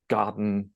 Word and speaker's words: gotten: I would not say I have gotten, that again, the T is softened into a D in American English in the middle of words, as you saw with the pronunciation task we did.